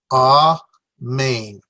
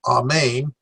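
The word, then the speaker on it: ἀμήν: so there's two syllables ah main well we say Amen all the time all main is the Greek pronunciation of it means Amen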